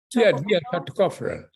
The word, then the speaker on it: tocopherol: Tocopherol.